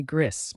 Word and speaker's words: gris: nasal n and finally Gris meaning gray think of gray stones or a gray sky Gris sounds like gree with a soft S at the end and there you have